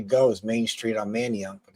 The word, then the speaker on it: Manayunk: Manayunk. That's how you spell it. Manayunk.